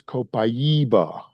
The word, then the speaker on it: Copaiba: Brazil on Sunday, and you better not pronounce it Copaiba there. It is Copaiba.